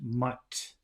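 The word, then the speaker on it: motte: would be pronounced but m-o-t-t should be pronounced mutt yeah okay wow I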